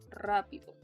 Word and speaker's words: rápido: Rápido. You need to roll your R's.